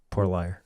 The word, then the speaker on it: Pouillet: Porlier. Poor Liar. Poor Liar. So Pouillet is how you pronounce my last name. If I haven't made that clear. French.